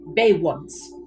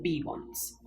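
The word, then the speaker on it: Beyoncé: Bay once, potentially, but not B once. There's a Y after the E, after all.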